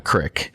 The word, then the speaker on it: creek: From everyone around here, you'd call it a crick.